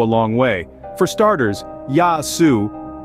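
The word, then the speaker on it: Γεια σου: phrases can go a long way for starters yasu pronounced yasu is a casual greeting equivalent to our hello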